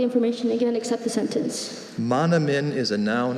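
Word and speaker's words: manoomin: Are there any alternate pronunciations? There's only monomin.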